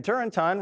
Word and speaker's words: Turrentine: Democrat Dan Turentine, rhymes with wine, agrees.